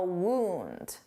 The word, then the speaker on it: wound: I wound the toy too hard and now I have a wound.